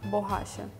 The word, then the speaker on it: borracha: Borracha. Borracha. So the double R has the ha sound, the H sound in English. So that's why instead of borracha we read borracha.